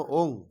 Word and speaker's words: ओम: वो कहते हैं राग में आ जाता है, बाकी तो है ओंग। लेकिन दूसरे स्टेट के लोग योंग कहते नहीं, बंगाली लोग कहते हैं, बंगला का असर होगा, बाकी वो योंग नहीं है, नमो ओंग। नहीं तो उच्चारण गलत हो रहा है।